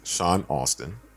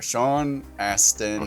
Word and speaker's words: Sean Astin: who you're speaking up sean astin sean austin there's no you in there sean aston he was in there